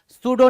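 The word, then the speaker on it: pseudo: सूडो name. क्या? सूडोइम। सूडो। सूडो मतलब क्या? False. P एस ई डी यू। वहां पे पी क्या होता है? साइलेंट होता है। सूडो बोलते हैं।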